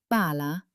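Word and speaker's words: pala: Listen to the difference. Bala means a shovel, but bala means a ball. Did you hear that slight hold on the L?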